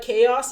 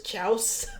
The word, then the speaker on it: chaos: I used to say chaos is chouse when I was a kid. Because of the chouse? Yeah, no, just because I thought it had a CH, so I thought you bring chouse everywhere you go.